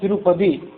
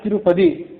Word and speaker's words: ತಿರುಪತಿ: ಶಬ್ದವೇ ಶ್ರೀ ಅನ್ನೋ ಅರ್ಥದಲ್ಲಿ ಪದಿ ಅನ್ನೋದು ಕೂಡ ಮೂಲ ತಮಿಳು ಶಬ್ದವೇ ಅದನ್ನ ತಿರುಪತಿ ಅಂತ ನಾವು ಆಮೇಲೆ ಉಚ್ಚಾರ ಮಾಡ್ತಿದ್ವಿ ಹಾಗಾದರೆ ಪದಿ ಅಂದ್ರೆ ಏನು ಪದಿ ಅಂತಂದ್ರೆ ಕ್ಷೇತ್ರ ಅಂತ ಅರ್ಥ ತಮಿಳು ಶಬ್ದದಲ್ಲಿ ಹಾಗಾಗಿ ತಿರುಪದಿ ಅಂತ ಅದು ಇರುವಂತ ಶಬ್ದ ಅಲ್ಲಿ ಮುಂದೆ ಅಲ್ಲಿ ಕಾಳಹಸ್ತಿ